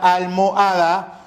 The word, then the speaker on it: almohada: La H intervocálica, es decir, entre vocales, no impide la concurrencia vocálica, puesto que ambas vocales conservan su pronunciación.